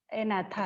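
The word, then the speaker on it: Agnatha: First one इज, जी is silent here, एनाथा है, ठीक है।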